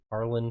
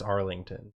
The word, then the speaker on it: Arlen: Arlen, Texas. How you spell that? ARLEN. Texas. Okay, because I want to put it on the shirt. It's a fake town. It's Arlington. It's not. But it's Arlen. But it's Arlen.